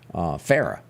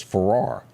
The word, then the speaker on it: Farrar: Here in Meridian, her maiden name is pronounced Farah. Where she came from, it was Farrar.